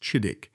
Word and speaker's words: Chidiock: His given name was exclusively Chidioch, pronounced Chidik, explicitly chosen to honor his father's powerful political patron.